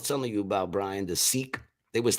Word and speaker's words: Sikh: And none of them ever got mad when I said sick, because that's how I thought it used to be pronounced. And they would just say, no, it's pronounced Seek.